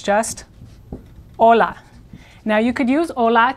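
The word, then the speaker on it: hola: the English word hi again the Spanish H is not pronounced so it's just Ola now you could use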